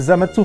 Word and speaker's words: Zamasu: Voilà, c'est Zamatsu, faut le prononcer comme ça parce que c'est quelqu'un qui rigole pas. Apparemment il a pas le temps.